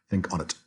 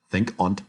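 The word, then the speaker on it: think on't: or that excluded syllable think on it there are lots of other examples where words are alighted and they try to preserve some remnant of missing vowel and no think aunt has two syllables now if he wanted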